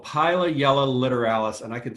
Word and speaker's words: Pilayella: say for the longest time I was saying pili yell about a scientist at Northeastern was corrected me and said that it's actually pronounced pilot yell I find that even more difficult to say